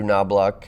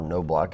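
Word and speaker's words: Knobloch: andrew at 338 uh andrew knobluck uh or no block is has correct pronunciation also leads us he's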